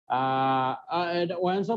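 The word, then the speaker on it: Wien: এখন তোমার ওয়েন্সও বলে, আবার অনেকে ভিনো বলে, ভিন্সের ল বা ওয়েন্সের ল, এক কথায় অস্ট্রিয়ান তো ডাব্লিউ কে ভিও উচ্চারণ করা যায়।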